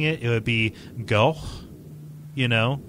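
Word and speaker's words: Gough: Billy goes on to say via contact, there is something that's been bothering me.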